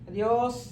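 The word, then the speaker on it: adiós: ഇതിനകത്ത് ഏതെങ്കിലും നമുക്ക് ചേർക്കാം അറിയോസ് എന്ന് പറഞ്ഞാൽ ഞാനാ അദിയോസ് സലുവേഗോ അദിയോസ് നസ്ത പ്രോന്തോ ഗുഡ് ബൈ സീ യു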